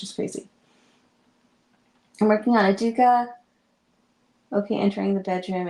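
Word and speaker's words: Educa: I've done several from them and before anyone says it, yes, it's called Aduka. They are a Spanish brand and that's how they pronounce it.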